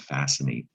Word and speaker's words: fascinate: it best sound like you might think it's spelled fascinate with an s but you can also think of it as a silent c fascinate which makes me